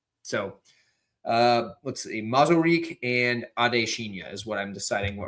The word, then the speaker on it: Adeshina: Not like Adesanya, it's like Adesina.